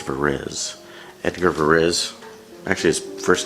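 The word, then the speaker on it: Edgard Varèse: there's enough taste and music styles for everybody Edgar Perez it's pronounced for is Edgar varèse actually his first name was probably eight garde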